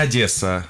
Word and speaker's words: Одесса: лампа жирности вот такой вопрос как сигналы ведь одесса или одесса смотря с какой суммы мы приехали к нам в одессу вообще правильно одесса но чего-то города с фразой от дессау вас